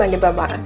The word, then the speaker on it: Alibaba: The name Alibaba came from the famous fold story One thousand and one nights and in Chinese it pronounces in the same way: alibaba.